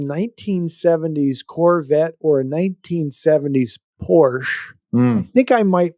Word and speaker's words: Porsche: But no, I like the Porsche, pronounced Porsche, Sure.